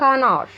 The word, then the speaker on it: canard: آخر حيوان معايا عندي بطة and canard. بطة and canard. هنا الدي من الحروف اللي مش بتتنطق في آخر الكلمة.